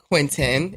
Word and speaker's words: Quintin: So I call him Q, but he prefers Quintin. It's actually Tin, not Ton.